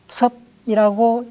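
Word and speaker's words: 葉: 이 이파리 엽자를 쓴 습공은 성이나 땅 이름으로 말할 때는 섭이라고 읽습니다.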